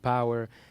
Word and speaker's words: Pauer: Yes, the word power is spelled Pauer, which is basically a description of my double nationality.